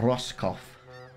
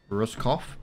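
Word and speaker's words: Roscoff: the bottom Ferry roskoff reroute or roskoff that's how you pronounce it ruskoff sounded more Russian to be honest there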